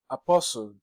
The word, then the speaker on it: apostle: say apost is what Apostle the t is silent you take the pronunciation